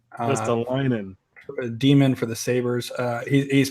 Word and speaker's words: Ristolainen: You want to try pronouncing that again, Tim? Rasmus Ristolainen. Not quite. Rasmus Ristolainen. Ristolainen.